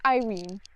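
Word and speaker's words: Yrene: her perspectiv and basically her name is spelled y r e n e so I'm like I have no clue what that is so I Googled it and turns out it's Irene so yeah but I liked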